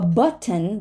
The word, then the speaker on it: button: it before an N so a button becomes a button but right button take a look button